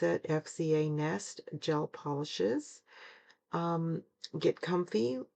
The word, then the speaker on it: FZANEST: You pronounce it FZANEST gel polishes.